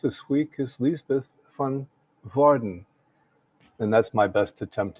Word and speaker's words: Woerden: our host this week is Liesbeth van Woerden, and that's my best attempt at a Dutch pronunciation. It's Woerden.